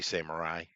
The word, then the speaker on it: samurai: But the actual way to say it is each consonant and vowel is connected in Japanese in what they call emoji. So it's sa, Mhm. mu, right? So you're going to pronounce them together. You're not going to blend them. Sa, mu, right? And then Mhm. your what we would say rai, actually would it rai, ra, I, but it's not ra.